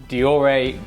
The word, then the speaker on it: Deore: This week, Shimano has released their brand new Deore group set. Yes, first question, you may have been pronouncing it Dior, but it's actually pronounced Deore.